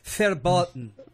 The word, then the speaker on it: verboten: the question it is verboten I'm sorry fat button is that a CV is pronounced like an F I can't pronounce my